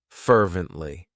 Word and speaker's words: fervently: It has 3 syllables, and the stress is on that first syllable. Fervently.